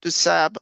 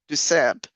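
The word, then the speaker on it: DuSable: both Pattersons did on the Dusab, which is what I've been told is pronounced rather than with Dusab, the French way, is you end up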